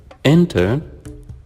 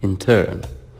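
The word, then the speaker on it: intern: used as a verb but with a different pronunciation it will be in turn we change the stress so as a noun it's enter as a verb and we say it or we read it as in turn number 10 reduction in the number of workers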